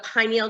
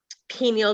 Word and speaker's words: pineal: it's connected to the pineal gland, also pineal gland. You could pronounce it either way.